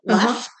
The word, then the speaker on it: Leffe: Okay, so now we're trying the Leffe, if you know how to pronounce that. I don't even know that I've ever seen it before. It's Leffe.